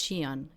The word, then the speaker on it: Qian: By the way, this is a Chinese name. Qian. You say it like this. It's Qian. It looks like this, but you say Qian.